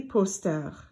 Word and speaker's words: posters: Un poster versus des posters. There's no difference in poster. That S is not pronounced.